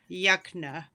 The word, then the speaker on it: Yukna: Yukna. So close. We've had it said many different ways. It's technically Yukna.